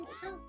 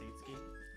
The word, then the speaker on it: Itsuki: Also, isn't it pronounced Itsuki? I don't know Yes. why, Yes, but it's- That's just, literally what Seki said, though. That is literally what I said.